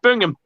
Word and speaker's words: Birmingham: birmingham in alabama yeah you really pronounce every single letter in that we say bingham like it's just bring him now i'm from worcester